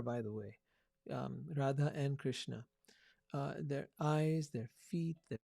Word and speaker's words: Krishna: they're available get the krishna book it's pronounced it's spelled krsna you'll find it on